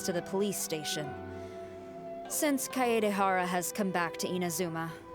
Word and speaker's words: Kaedehara: the police station since kaedehara has come back to inazuma those items should be returned to their rightful owner i much prefer the way she's pronouncing his surname kaye dahara no i'm afraid